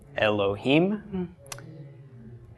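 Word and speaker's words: אלוהים: The first vowel in Elohim is, in fact, a chataf segel. There's a cholam between the lamed and the hey, and a cherik followed by a yod for the last syllable.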